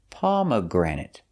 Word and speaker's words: pomegranate: the pronunciation is pomegranate pomegranate stresses on the first pom granate and third syllable pomegranate pomegranate it's a